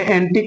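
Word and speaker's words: antique: पढ़ा जाएगा लीक पढ़ेंगे ऐसे एंटिक में देख लीजिए क्यू है यू है और ई है ये तीनों शब्द पा लिए गए तो अब हमारा य लेटर यहां नहीं पढ़ा जाएगा इसका प्रोनाउंस नहीं किया जाएगा ऐसे टेक्निक में देख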